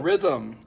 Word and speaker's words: rhythm: It's actually one of the very few words in the English language that has no vowel sounds. The Y is kind of like the vowel sound.